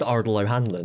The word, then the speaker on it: Ardal O'Hanlon: It's like Ardal O'Hanlon. I mean, it's just Ardal O'Hanlon. It's like it's not pronounced any differently to how it's spelt.